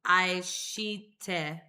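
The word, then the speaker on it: 愛して: So I looked up how to pronounce this song, Aishite, which is Japanese for love.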